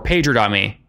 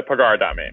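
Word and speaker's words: Pagar.me: it is it pigard on me or or pager on me it's a pagar domain picard on me that means to pay right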